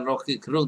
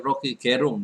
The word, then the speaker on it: Rocky Gerung: Ini bacanya bukan Rocky Gerung tapi Rocky Gerung kalau menurut lidah dari suara dari Rocky Gerung sendiri ya.